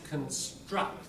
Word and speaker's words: construct: And just, if you want the native-like thing, where there's construct, there's the stress. Syllable before the stress is weak, not construct. Construct. Construct. Yeah. As a verb. As a noun, like an idea, use this in sort of academic. Oh, that's an interesting construct, like a paradigm or a framework within which people think. Construct, noun. Front stress. Right? Construct, verb. That's the typical pattern, isn't it?